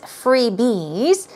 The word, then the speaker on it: freebie: the plural form as freebies stress goes on the first syllable freebie freebie it's like a gift